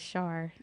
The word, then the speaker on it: Char: So I think that's what you say rhymes with star, so they can go by that as Char. Okay.